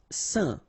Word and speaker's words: saint: Saint, alright, so final T not pronounced, and then when you combine this A-I-N here, you get the un sound, saint, saint.